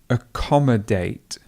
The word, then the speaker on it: accommodate: So accommodation would be ation, but in the verb you would say accommodate, and the stress would fall right over the O.